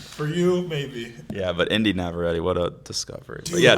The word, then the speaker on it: Inde Navarrette: Inde Navarrette. Inde Navarrette.